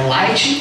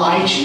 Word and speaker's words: Light: Então, no japonês vai ler a palavra Light, ele vai ler Raito.